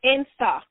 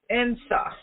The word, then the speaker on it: Nsaa: Can you pronounce that again? It's INSA. INSA.